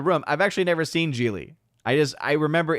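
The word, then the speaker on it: Gigli: about that movie that when I saw the movie was spelled with a G-I-G, I thought, what? There's a silent G in the middle of all that?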